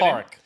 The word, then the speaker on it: Padraig: Porrick. Is Porrick. it? Yeah, Okay. but it's spelled Padraig.